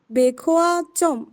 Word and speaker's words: 백화점: উচ্চারণ হবে বেখোয়া জম।